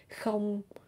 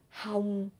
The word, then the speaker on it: không: You can say không, hông, hôn, or ôm.